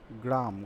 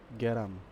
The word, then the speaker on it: গ্রাম: এই গ্রাম কথাটা যখন উচ্চারণ করতে যাই তখন আমরা বলে ফেলি গ্যারাম। এই যে গ্রাম শব্দটা, গ্রাম এই শব্দটা আমরা উচ্চারণের সময় যে গ্যারাম উচ্চারণ করে ফেলি বা গ্যারাম বলি, এই যে পরিবর্তনটা, এহেন